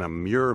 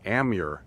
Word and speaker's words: Amur: I call it an amure maple. I've heard it pronounced as an amure maple. Let's just go with amure for now, though.